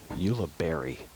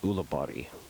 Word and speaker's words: Ulibarri: this with our audience when in America Paul will be pronounced Paul's last name will be pronounced Ulibarri if we were in Spain nation of origin it would be pronounced ghulibati so thank you look